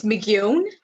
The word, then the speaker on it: McGeown: It's McGeown. So if you kind of think rhyming with phone, yeah.